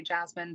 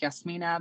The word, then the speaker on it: Jasmyne: the way um because i kind of say jasmine but it's yes mina but it doesn't really matter i don't care what you're calling me yeah yeah so yes mina thank you for coming